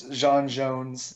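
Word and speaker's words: J'onn J'onzz: the end we get the correct pronunciation of his Martian name which is the soft J yeah but butch is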